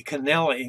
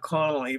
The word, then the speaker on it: Connelly: And I had to laugh because I'm Connolly, but my actual name is pronounced, you know, spelled C-O-N-N-E-L-Y. Actually, it should be Connelly, not Connolly, but we go by Connolly.